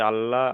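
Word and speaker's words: الله: পুর করে পড়বো, অর্থাৎ ল করে পড়তে হবে, ল, আল্লাহ।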